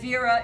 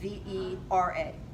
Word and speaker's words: vera: Okay, it's Polycythemia, polycythemia, and Vera is like the lady's name, Vera, Vera.